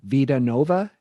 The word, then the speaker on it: Vida Nova: And you have the new EP that you released this year, Vida Nova.